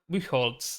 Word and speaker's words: Buchholz: Buchholz. There you go. I Yeah, suck at Buchholz. I think that might pronunciations.